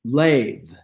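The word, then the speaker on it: לב: There's that word, L-E-B, lave. The B at the end is pronounced like a V.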